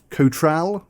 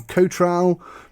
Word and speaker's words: Cotral: Cotral, I think it's how it's pronounced.